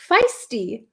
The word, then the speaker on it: feisty: this word before um can you pronounce feisty feisty feisty it's like a long ey feisty we had a lesson